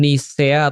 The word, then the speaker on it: Nikea: Jadi sebegini, di Konsili Nikea itu atau ya kita mau ngomong Nisea atau Nikea boleh ya, karena memang bacanya gitu ya.